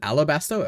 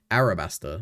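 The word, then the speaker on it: Arabasta: Isn't it Alabaster? I I the whole time I thought it was an L, but I guess it's R. Arabaster. I've been saying it wrong the whole time.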